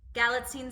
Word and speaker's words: Galitzine: career well done helps I practice galline sounds like magazine I watched I watched